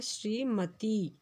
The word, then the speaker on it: श्रीमती: श्रीमती शब्द इस तरह से होता है श्रीमती। जब हम उच्चारण करते हैं तो मती ई पर दबाव पड़ता है इसके उच्चारण में।